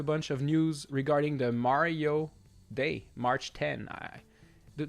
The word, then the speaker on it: Mario: That's like if you call Mario Mayrio. It's like, "No, he's not Mayrio, it's Mario." Got to say it right.